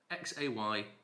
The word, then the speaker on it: Xaymaca: Now, for people who aren't rum aficionados, you will see the unusual spelling of Jamaica, Xaymaca, pronounced Xaymaca.